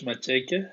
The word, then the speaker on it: Matsheke: Yeah, Matsheke, yes, How are you did.